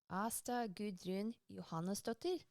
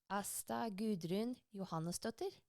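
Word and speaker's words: Ásta Guðrún Jóhannesdóttir: The designer is Asta Gudrun Johannesdottir. I mean, that's the Norwegian pronunciation of her name. It'll be a bit different in Icelandic, but Oh, say it again. Asta Gudrun Johannesdottir.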